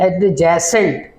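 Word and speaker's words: adjacent: एडजेसेंट को कैसे लिखते हैं, ए डी एडजेसेंट, JACENT, यानी एडजेसेंट लिखते हैं, लेकिन इसमें बी को हम साइलेंट कर देते हैं, एडजेसेंट बोलते हैं, ठीक है।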